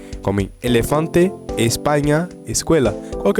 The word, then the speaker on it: escuela: Então, geralmente, essa palavra aqui, as pessoas diriam escuela, tá? Mas não é escuela, é sempre E.